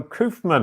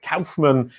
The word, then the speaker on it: Koufman: today it's with coofman and i apologize i said your name wrong last week i said kaufman uh and you'll see